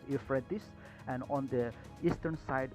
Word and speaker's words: Euphrates: we have a river efforts or it is pronounced as euphrates and on the eastern